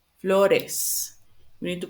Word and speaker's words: flores: have to add the es, sometimes you say floors. It's not flores, it's flores. We need to pronounce this is an extra syllable that we need to pronounce the es. So, cuadros, bananas, perros, coches, flores, relojes, doctores, peces.